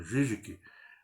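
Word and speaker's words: Žižek: como Zizek, né, que no nosso modo de falar mais ocidental, embora a pronúncia correta seja Zizek, né, mas mais conhecido como Zizek, um filósofo bastante ativo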